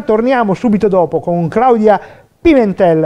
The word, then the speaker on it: Pimentel: Allora, Paolo, come si pronuncia questo cognome? Claudia Pimentel, così? Pimentel, va bene? Sì, sì, benissimo.